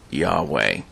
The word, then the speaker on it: Yahweh: First and foremost is the one spelled with the four Hebrew letters there on the slide, which is often pronounced Yahweh.